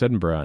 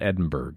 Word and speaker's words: Edinburgh: notice how we pronounce Edinburgh not Edinburgh just so you know there are folks Americans that's how you pronounce Scottish places you pronounce them how the Scottish people pronounce them well I'm not saying